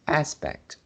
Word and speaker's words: aspect: But for this word, we need to uh put the stress in the front. Otherwise, it will a little bit like the word expect.